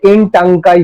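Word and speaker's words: Ntangki: নাগাল্যান্ডের একমাত্র জাতীয় উদ্যান, এটা হচ্ছে এনটাঙ্কাই বলা হয়, এনটাঙ্কাই, মানে এনটা এন এর মতো উচ্চারণ হবে, এনটাঙ্কাই ন্যাশনাল পার্ক নাগাল্যান্ডে অবস্থিত, নাগাল্যান্ডের একমাত্র জাতীয় উদ্যান।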